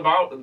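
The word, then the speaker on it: bodhrán: You popped for the Bowron? Bowron? Bowron. Bowron. Bowron. Yes. The Bowron. It's spelt Wadran, but Okay.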